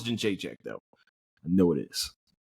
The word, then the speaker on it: Jędrzejczyk: I definitely think I said her first name wrong. No, it's Jędrzejczyk though.